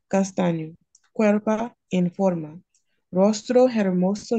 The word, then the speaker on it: hermoso: hentet no H iate hermoso is no ag we completely ignore it Clear Enough a way